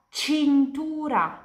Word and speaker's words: cintura: Jadi kapan di bahasa Italia kalian lihat C diikuti dari E atau dari I pronunciasinya itu kayak campur C. Jadi ini dibaca cena, ini dibaca cha, ini dibaca cintura.